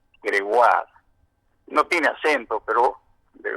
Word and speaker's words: Gregoire: se escribe Gregoire y se pronuncia Gregoire, con acento en la A, Gregoire.